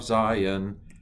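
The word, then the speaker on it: ז: some hebrew all right so this is a z sound z aleph bet gimmel hey vav zayan um notice that it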